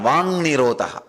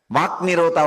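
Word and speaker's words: वाक् निरोध: That is what is called Vang Nirodha. Vak Nirodha only, when you pronounce it becomes Vang Nirodha.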